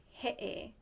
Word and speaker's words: he'e: The okina represents what they call an epiglottal stop. So that's why it sounds like that.